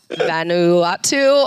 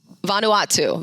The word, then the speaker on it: Vanuatu: Well, because the islands that they go to, um Vanuatu? I don't I don't know how to say it, but that's all I've ever said it in my What is it? Vanuatu. Vanuatu.